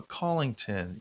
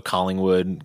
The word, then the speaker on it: Collington: of his band oh collington yes simple nice i hear it all though collingwood collingsworth uh it gets butchered a lot oh yeah my last